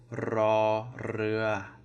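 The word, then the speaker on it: ร เรือ: Okay, let's hope you can roll your R's. This is raw, rua, raw, rua, raw, rua. Okay, so both flat tones, the R is rolled.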